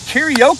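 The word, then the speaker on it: carioca: familiar with fun fact karao is spelled c a r i o CA not like the Japanese singing one and Lucas is going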